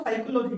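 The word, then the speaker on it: psychology: Silent P, silent P देखो आप, silent P, silent P, silent P, ठीक है। क्या बोलते हैं इसको साइकोलॉजी, क्या बोलते हैं साइकोलॉजी।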